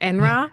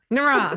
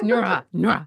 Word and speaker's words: Nura: winged horse and I I feel like I'm not going to say it right so you can correct me Polly but NRA no enra nura nura yes yes nura the bond between candra